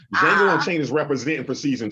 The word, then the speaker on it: Django: Come back, because Django Unchained, the D is silent, is representing.